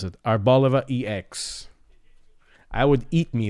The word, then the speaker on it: Arboliva: Zerora Reverse and Arboliva. That's how you pronounce it. Arbaliva EX.